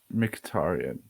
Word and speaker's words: Mkhitaryan: I hope I don't butcher the pronunciation. It's Mkhitaryan, right? Yep, Henrik Mkhitaryan.